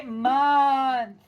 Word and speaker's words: month: is a thinking word we have to think month but we say month again we're super lazy speakers in the english language